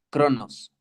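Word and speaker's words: χρόνος: de, más la palabra cronos, ¿ok? Bueno, en realidad, la pronunciación más cercana sería decir Cronos, porque está con una J en griego.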